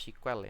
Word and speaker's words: SQL: ya jadi sampai sekarang namanya Tetap SQL Tapi bacanya tetap sequel ya Meskipun ditulis SQL jadi itu sejarahan dari